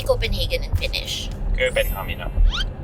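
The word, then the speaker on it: Kööpenhamina: Köpenhamina. Köpenhamina.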